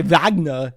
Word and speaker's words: Wagner: It's important that when you say Wagner, you say it like Arnold Schwarzenegger.